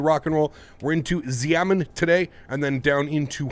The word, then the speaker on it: Xiamen: It is Xiamen is pronounced Xiamen.